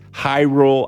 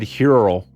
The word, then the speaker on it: Hyrule: I know that it's Hyrule. I said Hyrule. The list goes on. I butchered a lot of names, and I have to correct myself every time.